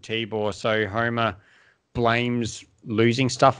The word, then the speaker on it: Tibore: Tibore.